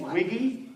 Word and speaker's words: Wiggy: the looney stage not new to comedy wiggy everybody thank you you heard pj correctly my last name is wiggy w-i-g-g-y thank you go ahead you want to